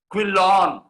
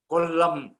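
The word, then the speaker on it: കൊല്ലം: उच्चारणं तेषां भाषायां कर्तुं न शक्नुवन्ति स्म। कोल्लं तु ते किं क्विलोन् कोल्लम् इति अस्ति, त्रिशूर् त्रिचूर् इति कृतवन्तः।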